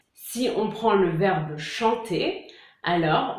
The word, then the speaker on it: chantent: Si on prend le verbe chanter, alors on va dire il chante et pas il chantait ou il chantant ou je sais pas quoi. on dit il chante. On ne prononce pas le ENT. On l'écrit, mais on ne le prononce pas.